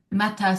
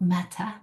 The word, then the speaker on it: Metta: Metta, spelled with two T's, means loving kindness. It's kind of a discussion to really pay attention to, not meta, but metta, loving kindness.